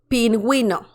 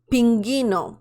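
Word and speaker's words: pingüino: U you know that you have to pronounce the letter U in the word pin we know Pinguino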